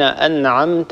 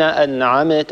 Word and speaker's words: أنعمت: مثلا في كلمة صراط الذين أنعمت عليهم، أنعمت، هذه الكلمة عندنا فيها ميم ساكنة، لا نقلقل هذه الميم ونقول صراط الذين أنعمت عليهم، هذا خطأ.